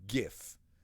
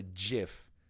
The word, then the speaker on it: GIF: pronounce it just like gif it's not a jiff jiff is peanut butter and it's a gif and yes I know